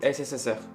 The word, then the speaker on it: CCCP: Donc la prononciation en français ça donne plutôt SSSR.